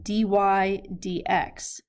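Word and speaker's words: dy/dx: take the derivative and we pronounce this as d y d x or the derivative of y with respect to x meaning we're taking the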